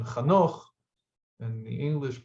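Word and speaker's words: חנוך: regarding Noach's great-grandfather, who was, in the Hebrew pronunciation, Chanoch, and the English pronunciation, Enoch, I think they say.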